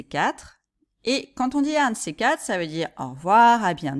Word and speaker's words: à un de ces quatre: de ces quatre », remarquez la prononciation. On ne dit pas à un de ces quatre, mais on dit à un de ces quatre. Hein, remarquez que le D de 2 devient plutôt un T.